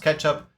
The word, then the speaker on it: k3sup: use the tool catchup the K3 sub um pronounced ketchup um how we can leverage it to set up the cluster and also make it highly available.